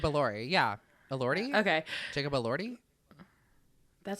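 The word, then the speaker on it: Elordi: have not seen Jacob El delori is that how you say his name El delori elori uh allori oh it's allori there's no D in it okay el delori el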